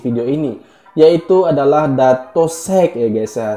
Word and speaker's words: Shake: Sek ya, pengucapannya gitu ya, Sek ya. Dan mohon maaf kemarin aku sudah mereaksi dari penyanyi ini guys ya, dan itu salah penyebutan aku ya. Aku sebut di situ Datuk Syake, tapi di situ juga